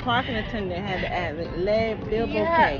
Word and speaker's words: Le Bilboquet: The parking attendant had to add Le Bilboquet. Yeah, Le Bilboquet.